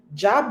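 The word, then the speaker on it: Djab: Jab. Jab. Mind you, that that phrase starts with a D. The D is silent.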